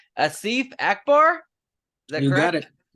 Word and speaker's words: Asif Akbar: me right now let's see if I can pronounce this right Asif Akbar is that you got it yeah you got